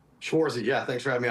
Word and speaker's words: Schwartz: uh, I hope I pronounced your last name correctly. Schwarzy.